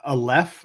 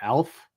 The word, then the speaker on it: Aleph: Aleph, I would say, not Alf. I don't think he's I don't think he's an alien who eats cats that just joined. Well, we're coming to him and he can pronounce that, and I hope he says it's Alf. So I mean, maybe the E is silent, but I doubt it. E's aren't often silent. I'm gonna say Aleph.